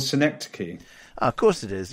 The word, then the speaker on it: Synecdoche: the film you've chosen, Syndosh, is that right? Am I pronouncing it right? I think it's called Synecdoche.